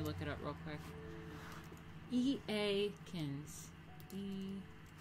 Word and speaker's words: Eakins: E-A-Kins. E-A-Kins. How to pronounce. Aikens?